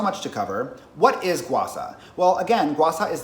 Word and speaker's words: gua sha: Yes, I am saying Gua Sha instead of Gua Sha because that's just how it's pronounced, but if anybody gives